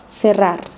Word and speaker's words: cerrar: To pronounce the double R sound properly, English speakers need to learn to trill your R's. Try making a purring sound like a cat. Feel your tongue vibrate. Rrr, rrr. Correr, barrer, cerrar.